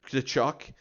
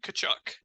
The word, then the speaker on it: Tkachuk: Um, with I don't really know how to pronounce his last name, but Matthew Kachuk. Tkachuk. Um, Yeah, the T is silent. Kachuk. and Bobrovsky in net, who's